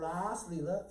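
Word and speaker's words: Rāsa Līlā: in the Leela called Ras Leela in Sanskrit with a long a all 12 russas are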